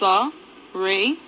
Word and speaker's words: Soraya: How to pronounce Soraya? It's Soraya.